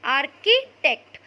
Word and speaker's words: architect: Now again I am telling you all, children, spelling of architect is ARCHITECT, but while pronouncing you will not pronounce CH as ch, you will pronounce it as k. Okay, architect.